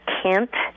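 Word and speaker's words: Kind: a village that was called Kent but it's spelled k i n d but it's Kent right and the Russians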